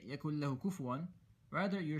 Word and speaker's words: كُفُوًا: see the dhamma, but a very common mistake is people pronounce this word as kufuwan. So they say, وَلَمْ يَكُنْ لَهُ كُفُوًا أَحَدٌ. Rather, it should be kufuwan.